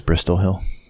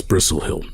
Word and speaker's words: Bristlehill: Where is Bristol Hill? That's Bristlehill, Mitchell. Bristol. T is pronounced. Is it? In my tongue. Oh. Yeah, my native tongue. We pronounce our T's.